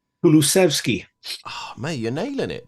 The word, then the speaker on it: Kulusevski: Lovely pronunciation again. And what about the Swedish midfielder? How do you say his name? Kulusevski.